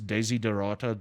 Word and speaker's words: Desiderata: poem by Max Ehrmann, Desiderata. Okay. And it rings true of South Africa. If you don't know Desiderata, just go Google it. It is Desiderata, just as you spell it.